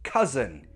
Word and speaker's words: cousin: Example, cousin. The first syllable is the stressed syllable, ka. The second syllable, that's unstressed, so it has a weak form, and that will take the schwa.